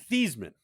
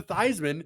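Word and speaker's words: Theismann: Ben I haven't heard his name is actually pronounced theeman and it's always been thian oh I did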